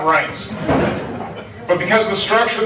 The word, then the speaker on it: Reince: But because of the work that Reince had done, by the way, members of the Senate do not know how to pronounce his name. They pronounce it Reince, everything but Reince.